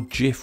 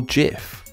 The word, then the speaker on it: GIF: it should be pronounced gif with a hard G or gif or a soft G I'm sure you can